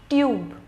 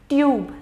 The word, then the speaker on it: tube: a same goes here tub tube huh hope in both of these cases tub you was very less pronounced in a very less degree when we added e tube the you voice extended and pronunciation same goes